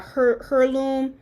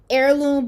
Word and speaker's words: heirloom: with those little uh herloom heirloom heirloom somebody told me the h is silent heirloom baby blankets look they